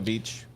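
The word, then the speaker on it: Bietsch: give me your thoughts it's German so the original not spelled like a beach the original derivation of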